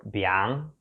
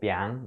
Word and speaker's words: biang: a weird spelling and it's a weird pronunciation too. Like the sound combination of this is very unusual for Mandarin. It's actually only this and some colloquial other Taiwanese word for that. It's called biang.